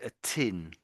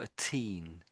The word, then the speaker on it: teen: I would say it sounds to me like you're saying a tin. A tin or a little bit that way, but it's more a teen.